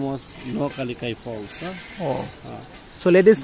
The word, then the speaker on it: Nohkalikai: Actually, it is pronounced Nohkalikai Falls. Nohkalikai. Nohkalikai.